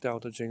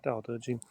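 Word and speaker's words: Dao De Jing: It's pronounced da da jing. As I say, da da jing.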